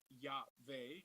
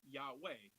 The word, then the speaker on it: Yahweh: So the Vav is also pronounced as a Wah. So some people say Yahweh and some people say Yahweh.